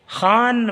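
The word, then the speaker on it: خوان: नहीं बोलेगा बलाई हुई खान पर खन लिखा जाता है लेकिन पढ़िए खान व की आवाज को साइलेंट कर देंगे खान पर पहुंची वह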